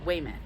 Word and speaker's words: Weymouth: the t and then your last name is weymouth yeah wait a minute it's kind of like plymouth but i don't know